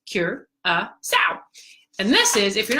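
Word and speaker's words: Curaçao: us on Curacao so Curacao as you can see it spelled Curacao pronounced cure so and this is if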